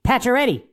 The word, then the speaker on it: Pacioretty: It's Pacioretty. It's Tuck. It's not that difficult to pronounce their names.